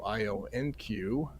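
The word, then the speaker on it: IonQ: Let's change that ticker. Ion Q. It's easier when you call it that, right?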